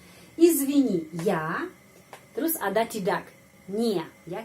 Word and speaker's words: не: Terus ada tidak, не, ya. Kita menulis не, tapi selalu ucapannya ni.